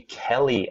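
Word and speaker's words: Kelle: This is for the Kelly app, K-E-L-L-E. We didn't get a misspelling there. That's actually how it's spelled, K-E-L-L-E.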